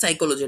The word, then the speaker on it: psychology: Like अपना subject साइकोलॉजी, ठीक है। तो साइकोलॉजी की स्पेलिंग हम लोग कैसे स्टार्ट करते हैं? P साइकोलॉजी हम लोग पी से स्टार्ट करें, बट पी is silent in this.